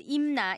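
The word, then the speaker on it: Imna: were found to use the name MIM pronounced IMA in Korean when referring to Korean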